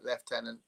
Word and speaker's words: lieutenant: Um lieutenant means holding place, but that doesn't help us with pronunciation. It's just a weird thing that that's one of the weirdest pronunciations I think I know. Left. Is there another one Deb you can think of? Like left tenant.